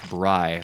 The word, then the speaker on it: Bri: It's Bri, like the bread.